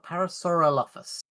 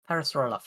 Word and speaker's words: Parasaurolophus: Parasaurolofus. There's another Oro in there. Parasaurolophus.